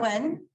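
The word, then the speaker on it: Nguyen: Wen, Yeah.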